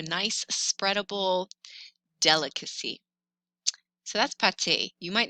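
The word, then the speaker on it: pâté: it's plural whereas patty with an e accent pate is spreadable meat not the same as pastas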